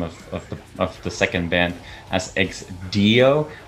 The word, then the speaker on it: Ex Deo: But EX DEO, EX DEO, you know, the real way is EX DEO, you know, that's how you say it.